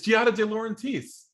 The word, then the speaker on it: Giada De Laurentiis: i never heard this name like somebody else pronounce it for me already i've been like guided it's giada de laurentiis oh okay okay so this is oh nate